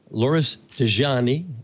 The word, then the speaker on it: Loris Degioanni: They are Loris Degioanni. I got some instruction on the pronunciation of his name.